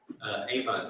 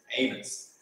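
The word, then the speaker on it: Amoz: Amos with a Z, not an S. It's a different Amos, but it's pronounced the same, Amos.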